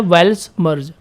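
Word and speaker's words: Weltschmerz: इसके लिए हमारे पास क्या वर्ड था, ये हमारा वर्ड है वेल्स मर्ज। ठीक है, ये प्रोनाउंसिएशन आप याद रखिएगा, WEL, वेल टी, वेल्ट, और SCHMERZ। ठीक है, वेल्स मर्ज।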